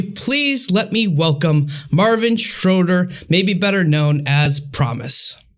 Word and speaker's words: Schröder: okay how's it pronounced it's it's schroeder like a lot of germ a lot of german sounds come like from the back of your throat and that's like a non-existent like sound in english so it's like